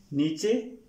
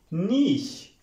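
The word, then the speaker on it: niche: नीचे नहीं, नीच नहीं। तो अगर देखा जाए तो यहां पे वर्ड NICH और E है, नीच या नीचे नहीं। इसकी करेक्ट प्रोनाउंसिएशन है स्टूडेंट्स नीश, नीश, NEESH, नीश, नीश।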